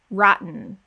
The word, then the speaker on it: rotten: the word rotten so here we have the syllabic n or m rotten now you may notice